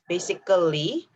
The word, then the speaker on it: basically: then basically basically basically instead of saying basically so the uh should not be pronounced clearly instead you should use basically basically and then this